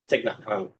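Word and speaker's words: Thích Nhất Hạnh: I don't know how to say their name, but I think it's a Thich Nhat Hanh. Thich Nhat Hanh.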